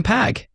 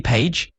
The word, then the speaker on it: PAGE: Hi, I'm Pag Primal Able Gadget Electron. Slim blinks. Wait, shouldn't that be Paige? The pager flashes the tiny pixel smirk. I only say pag. The e is silent.